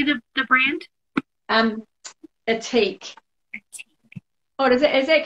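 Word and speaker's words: Ethique: how do you say the the brand um atik what is it does that come about backwards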